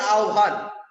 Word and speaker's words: আহ্বান: আহ্বান গল্প পড়ার সময় যে বিষয়টি মনে রাখতে হবে, দেখো বানান করছি হ ব আহ্বান, কিন্তু উচ্চারণ করি আহ্বান।